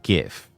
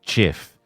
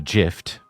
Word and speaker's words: GIF: It's pronounced GIF. Yes, chat. If you pronounce it GIF, it's that's um you're doing it wrong.